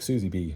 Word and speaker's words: SZBE: It's SZBE. And he says it's pronounced like Suzy B.